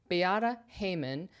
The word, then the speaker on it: Beata Heuman: Today, we're taking a closer look at a London flat designed by uh Bayata Haymon. Had to look up how to pronounce her name. Biata Haymon.